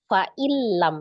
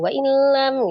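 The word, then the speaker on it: فإن لم: aqru lakum naf'a Agak samar itu antara huruf wau dengan huruf fa ya. Faillam ya bukan waillam gitu kan kayak samar wa terbacanya dua kali ya itu ya.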